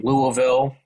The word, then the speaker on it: Louisville: And like I said, I'm in Louisville, which I finally learned how to say, because I was saying it like a northerner for a long time. Just slur it into oblivion. That's how you say it.